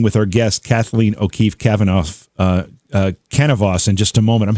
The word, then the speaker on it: Kanavos: Kanavos. It's close. It's cannabis, sort of like the stuff you smoke.